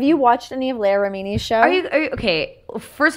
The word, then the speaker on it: Remini: Extra syllables. Leah Remini. I was saying Remini. It's Leah Remini.